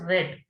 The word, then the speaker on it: read: in past tense so here we will pronounce it as red we are read books